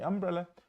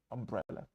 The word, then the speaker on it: umbrella: Umbrella. Не umbrella, umbrella. Is that umbrella yours?